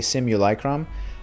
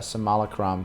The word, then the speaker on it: simulacrum: uh i've seen it i've actually heard it pronounced a couple different ways in the game they uh say simulacrum um but i've i've heard it uh somali chrome too i don't know if